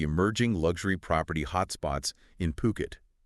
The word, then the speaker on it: Phuket: It's Puket. Okay. Not Fuket. Exactly. Crucial pronunciation point there.